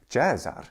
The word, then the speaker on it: Caesar: pronunciation he is gar in the Italian ecclesiastical pronunciation he is chesar chesar no one ever said chesar no one says chesar instead of Caesar nobody when Italians are speaking Latin they do